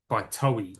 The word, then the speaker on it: Toei: There's another one here called Out There by Toei. I'm pronouncing it Toei.